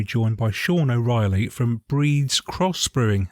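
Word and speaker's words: Bríd's Cross: b r i DS Bridge cross but pronounced breeds that's right it has a has a father and an Irish accent over the letter i which elongates the sound and hence hence breeds yeah and I guess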